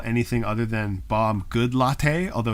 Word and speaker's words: Goodlatte: anything other than Bob Goodlatte a although his name is probably good late or something but it's spelled good latte and that's how I'm saying it um and this